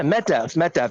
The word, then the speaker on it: Medvedev: Yeah, Medvedev.